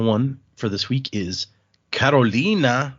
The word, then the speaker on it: Karolina: Uh the final one for this week is Karolina. It's spelled with a K and two I's, so that's why I said it that way.